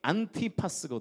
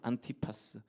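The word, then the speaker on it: Antipas: 사람이 바로이 안디바 그런데이 안디바의 헬라 발음이 안티파스 안티파스 안티는 여러분 안티에 나잖아요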